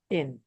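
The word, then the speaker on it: شين: Shin ini dia cenderungnya senyum ya. Cara pfalan itu senyum. Shin. Jadi kalau ada yang baca syin-nya dia ee monyong misalnya itu kurang ya. Jadi dia cenderungnya atau lebih dekatnya dia senyum.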